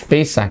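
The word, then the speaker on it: Pesach: the month of Nissan Pak Pak okay it's pronounced as pesak it's a Passover okay and they choose a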